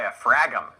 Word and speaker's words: diaphragm: letter dia fragum die diaphragm it's not pronounced the g is silent the g but you